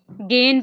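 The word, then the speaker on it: gehen: दरमियान में होगा ना तो हा को हमने साइलेंट करना है जैसे गहन है ना तो गहन को भी हमने गेन पढ़ना यानी कि जाना गेन विया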